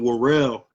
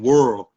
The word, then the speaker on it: Worrell: You know, in Philadelphia they pronounce my last name Warel, but in North Carolina down south they pronounce my last name world.